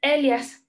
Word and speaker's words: Elias: constructo social es norbert elias se escribe así sin acento no es de elías es el jazz y